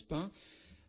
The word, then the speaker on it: Payns: Alors Pin en effet 12 km de Troyes, P-A-Y-N-S comme je l'ai dit, ce qui se prononce Pin, 1500 habitants environ.